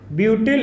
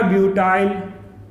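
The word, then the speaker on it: butyl: इसको एथिल या एथाइल, इसको प्रोपिल या प्रोपाइल, ब्यूटिल या ब्यूटाइल, ओके।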